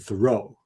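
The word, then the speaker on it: Thoreau: him as Henry David Thorough you know an accent on the last syllable and uh there's evidence that he pronounced his name with an accent on the first syllable so it sounds like thorough like I was very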